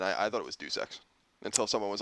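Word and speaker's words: Deus Ex: finally on the Colo already sponsored rer report Dux also it's often mispronounced as de X Human Revolution finally has a release date look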